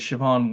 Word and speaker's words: Siobhan: Hi, Siobhan, how are you? I'm good, thank you. How are you? Hopefully I pronounced that correctly. I know it's Irish. Yes, you pronounced it correctly.